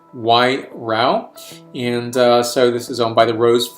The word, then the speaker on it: Wairau: zealand and 13.5 abv i like how they give a pronunciation right here y row and uh so this